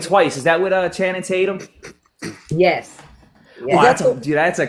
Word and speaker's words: Channing Tatum: Uh uh uh Tannon would be uh Did I say his name right? You was close. Yeah. Channing Tatum.